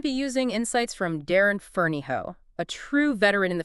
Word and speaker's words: Ferneyhough: we're going to be using insights from Darren fero a true veteran in the field since 2008 it's uh pronounced ferof by the way oh thanks for that already